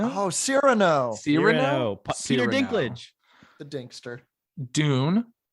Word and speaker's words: Cyrano: Cyrano? Oh, Cyrano.